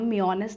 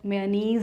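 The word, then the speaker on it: mayonnaise: मोमोस के साथ वेल इस सॉस का नाम मनेस नहीं बट मनीज है मनीज और मेनी बट दैट जज साउंड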